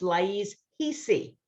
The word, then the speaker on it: Laiz Ricci: me saying so, Michael, her name is spelled Laiz, R as in Richard, Ricci. It's pronounced Laiz Ricci, but it's pronounced, it's spelled with an R, just so Yep.